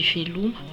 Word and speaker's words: veloma: Pour au revoir, c'est veloum. Si vous essayez de le lire à la française, vous aurez tendance à dire veloma, mais en fait on dit veloum. Pour merci, c'est misouch. Misouch qui s'écrit comme ceci.